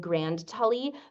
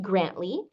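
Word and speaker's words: Grandtully: it it looks like the town is in Grand Tully but it's actually pronounced grantly and Scotland loves to do all sorts of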